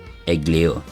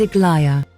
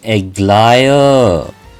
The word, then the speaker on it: Aglaia: I chose to pick Aglair. Am I pronouncing it right? O noble guest from afar, the wind brought me news of you along the golden threads. My name is Aglaia. Ah, Aglaia.